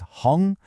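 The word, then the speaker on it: 红: The character is Hung, pronounced hung, which means red.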